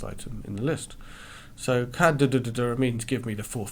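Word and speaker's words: cdr: So we can pronounce it cadder, and you can reasonably easily hear what I'm saying.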